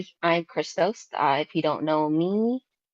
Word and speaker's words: Krystoast: to pronounce my name my name is Crystal so it's Chris and uh toast so Christos um that's where you'll